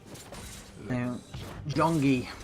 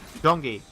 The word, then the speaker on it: Gyeonggi: Gyeonggi. Gyeonggi.